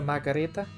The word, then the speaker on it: Margherita: wood-fired pizza by pronouncing pizza margarita correctly it's a margarita yeah well here's the thing different words have different pronunciations the world over well it was named for for queen margherita and a lot of